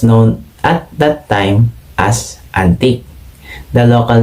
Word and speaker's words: Antique: influenced by the french recorded the region's name as hantik which was then read as antigue silent h the locals then pronounce the name into its present name antique culture the culture here